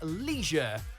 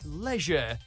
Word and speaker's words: leisure: the national variations in America you'll always almost always hear people say Leisure like it's got an extra e hidden somewhere while in the UK it's more like Leisure as if the I isn't there at all with both versions seeming